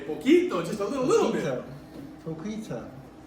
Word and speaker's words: poquito: A C followed by an I has That's a a C. S sound. That's all, yeah. That would be pocito. So you don't go poco, pocito, you go poco, poquito. So it's spelled to keep the k sound.